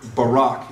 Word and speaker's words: Barak: on the part of Barak. The failure on the part of, or Barak, if you prefer that pronunciation, all right?